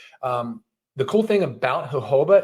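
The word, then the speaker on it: jojoba: products the organic hoba is that how you pronounce it hoba according to google but it's j OJ o j OJ o ba Joba so I I used to always just call it Joba oil so sorry for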